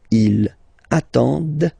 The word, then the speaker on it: attendent: Ils attendent, okay, so remember you get to pronounce this, d at the end, okay.